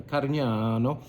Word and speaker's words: Carignano: It uh resides in on the island of Sardinia as well, where it's called uh Carignano. You got to say it like that over there.